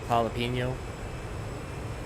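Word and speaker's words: jalapeño: Yeah, cuz there's a lot of uh there's a lot of Julio's around here and it's spelled with a J. J is a like an H. Gelopino. Jalapeno.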